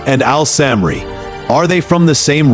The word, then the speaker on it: Al-Samri: Zimri starts with a voiced Z, while Al-Samri uses an unvoiced S. Close, since they're both toothy sounds. Zimri's shorter, 3 syllables, versus Al-Samri's 4, and Zimri ends with a short vowel, while Al-Samri raps with a long E.